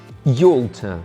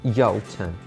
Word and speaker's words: Yalta: In all honesty, Xerox is not a geographical place at all, but people mispronounce it so very often that we decided to include it here. Xerox. Letter Y. Yalta or Yalta.